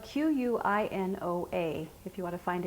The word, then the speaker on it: quinoa: For lunch today, we're going to make a quinoa tabouli salad. Tabouli is traditionally made with bulgur wheat, which is a cracked wheat product, but we're going to use quinoa today. Quinoa is a grain grown in high altitudes.